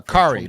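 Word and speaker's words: Kaare: adamantium foil edition uh kari like atari kari adamantium foil from marvel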